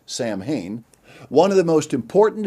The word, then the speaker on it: Samhain: the encyclopedia britannica reveals sahuin celtic for end of summer often pronounced samhain one of the most